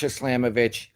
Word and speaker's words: Slamovich: the Friday night with gcw against Mash Masha slamovich I'm not sure if I'm pronouncing her name right yes mash slamovich and it is actually with the g under